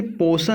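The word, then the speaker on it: portion: अगला देखिए, पोर्शन लिखा हुआ है, यहाँ पर आर साइलेंट होगा, ठीक है।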